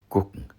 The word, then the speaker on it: gucken: Gucken, meaning to look, is pronounced gucken with a K sound.